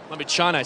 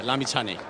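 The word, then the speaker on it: Lamichhane: Can you tell us in Nepal what is the correct pronunciation of his last name? It's Sandeep Lamichani. Lamichane, so Lamichane. It's a ch, not yeah, a sh. Yeah, yeah, Lamichane.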